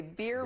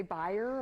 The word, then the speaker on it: Bier: ier by the way beer brewery do people try to say buyer or yes yeah that buyer beer and I should know it's pure don't think about too hard it's just beer beer brewery you could